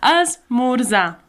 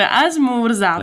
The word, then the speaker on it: esmorzar: So azmurza. If you can't spell it, how am I supposed to pronounce it? Sorry. But yeah, we don't pronounce those R's at the end of a lot of words.